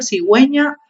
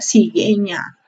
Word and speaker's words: cigüeña: G y la GI, cuando se debe pronunciar la U, ¿ya? O sea, cuando queremos que se diga hue o wi. Por ejemplo, cigüeña o pingüino, ¿cierto? Si no le colocamos la diéresis, diría cigueña o pinguino, ¿cierto?